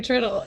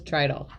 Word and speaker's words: Tridle: i've heard a lot of people call you turtle but now okay you've heard it here folks it is trital yes okay good that's good a lot of people say trittle yeah like it's just like it's spelled it's